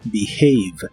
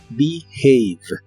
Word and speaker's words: behave: y usaremos el verbo behave que significa comportarse la H de esta palabra se pronuncia como una J suave y la segunda parte no se pronuncia have sino have behave behave y usaremos el